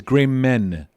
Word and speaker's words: Grayman: and by the way it's grey men not man if anyone's listening oh yeah we say great men yeah it's m-a-n it's spelled uh the american spell oh well it's the american spelling for gray g-r-a-y-m-a-n but we like to say grey men and company like a proper tailoring house that's right just because